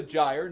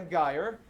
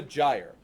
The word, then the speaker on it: gyre: This is a gyre, not a gyre. This is a gyre. Okay, when we talk about our gyres, we get a lot of them on our planet.